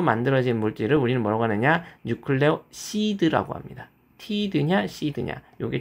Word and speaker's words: 뉴클레오시드: 뉴클레오시드라고 합니다. 티드냐 시드냐 요게 좀 달라요. 뭐 한국에서는 유클레오시드를 뉴클레오사이드라고 발음하기도 하지만 우리는 뉴클레오시드라고 발음을 해 보도록 하겠습니다.